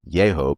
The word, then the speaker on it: Yahoo: nearby Yahoo Arch with Yahoo pronounced yeo by some local residents are scenic stops within the Daniel Boone National Forest in McCreary County, Kentucky.